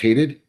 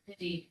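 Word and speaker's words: Hadied: I'm Hadid of the People v.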